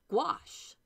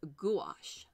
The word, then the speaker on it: gouache: Europe and UK is gouache like two syllables and it does come from the French it does the the